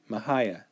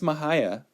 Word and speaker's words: Mexia: Oh, see, I did mispronounce her name. It says right here, Ynes Mexia, not Mexia, Mexia. Ynes Mexia.